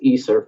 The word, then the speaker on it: ESSER: the ISA ISA funds esse are pronounced easer funding is worth a